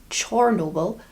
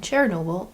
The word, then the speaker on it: Chernobyl: Apparently, Chernobyl is how it's pronounced in Ukraine. And Chernobyl is how it's pronounced in Russia.